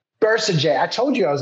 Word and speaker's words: Bercegeay: Today, we are sitting here with Hannah Bercegeay. Did I pronounce that right, Hannah? No, it's Bercegeay. Bercegeay.